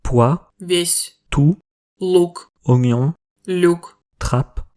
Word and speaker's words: весь: вес, Pois, весь, tout, лук, oignon, люк, trappe, мат, comme dans échec et mat, мять, froissé, Тамбов, une ville au sud-est de Moscou, любовь, amour.